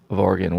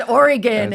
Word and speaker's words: Oregon: I know, it's Oregon. It's Oregon. Yeah. It's like begin, but with a soft G.